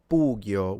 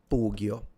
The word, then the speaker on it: pugio: And then the sword is a pugio with the u being long. There he is. Pugio.